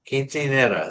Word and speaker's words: quinceañera: It's 15 is quinceañera. Quinceanera.